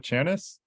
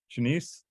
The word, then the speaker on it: Shanice: Is it Chanice? Shanice? Shanice, yeah, you said it right the second time.